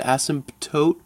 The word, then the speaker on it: asymptotes: kind of gonna indicate asymptotes a s only one s and that I saw where you were going with that only one s and then the silent P the asymptotes oh wait there's no H in it mess myself up with the silent P there we go a s my PT s mt o te i believe okay check me on that it could be wrong but asymptotes this is